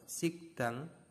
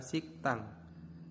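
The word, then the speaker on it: 식당: menjadi C nah contohnya Ini ada tulisannya bahwa sigdang sigdang Nah kalau misalkan ini D ya bacanya D ini adalah D karena dia berlaku hurumf bacaan maka dibacanya adalah siktang Nah di sini ee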